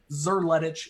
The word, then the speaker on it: Szerletich: easier if you just ignore that there is an S in front of the Z and pronounce it with a hard Z sir lettuce is how I like